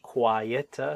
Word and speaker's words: quiet: And whereas she's talking about being a much quieter, so quiet is two syllables. So quite, be careful, this one, quite good. That is a single syllable.